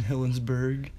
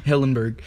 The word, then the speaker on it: Hillenburg: Steven Hillenburg. You didn't even say his name right. But I feel like... What's his name? Hillenburg.